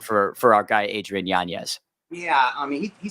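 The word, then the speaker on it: Yanez: of influencer boxing um Adrian janz or as the pronunciation now yanes that he's he's corrected everybody uh tough night man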